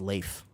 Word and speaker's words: Leif: People call me Leaf, but it's pronounced Leif.